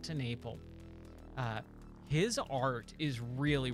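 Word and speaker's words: TenNapel: Creator Doug tenal um I think that's how you pronounce his last name tenle that's what it is Doug to Naple uh his art is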